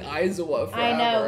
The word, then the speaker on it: Aizawa: Aizawa. Aizawa? We've been saying Aizawa forever. I know, it's Aizawa. So bad. Yeah. We've been saying it wrong.